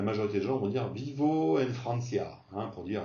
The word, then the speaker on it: vivo: dit voy, en espagnol, le V se prononce quasiment comme un B. Vivo, on entend bien que c'est pas bibo, c'est pas bibo, c'est vivo.